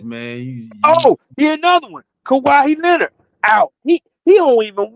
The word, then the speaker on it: Kawhi: Am I saying it right? Kawhi. It's just Kawhi.